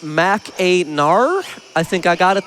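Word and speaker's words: Mackinac: Macak is actually pronounced Mac Aar.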